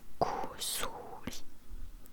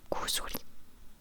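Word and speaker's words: 薬: Si, imaginons, si tu as besoin de médicaments, pour dire médicament, c'est kusuri, kusuri, kusuri.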